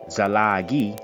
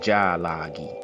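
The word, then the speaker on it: ᏣᎳᎩ: let's get into it a cherokee language named for cherokee people is translating as principal people zalagi that's how the westerners said we don't say it like that we say ja lagi but zalagi is the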